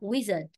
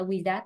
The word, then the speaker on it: wizard: Cùng chú ý trong âm âm tiết 1 rồi nên là phải đọc là wizard, wizard, chứ không phải là with that đâu.